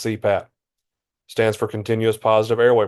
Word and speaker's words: CPAP: abbreviations and acronym so abbreviations are made up of initials that can pronounce as a word so for example CPAP pronounce CPAP stands for continuous positive